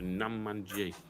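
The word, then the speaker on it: Namanji: So, Nam Man Jay. Right. I think so you pronounce it.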